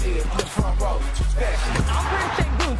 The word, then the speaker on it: Alperen Şengün: Alperen Şengün, say his name right.